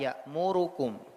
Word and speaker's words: يأمركم: Ya'murukum dibaca secara cepat. Ya'murukum, cepat dia, lebih cepat daripada zaman satu harakat pada yang lain.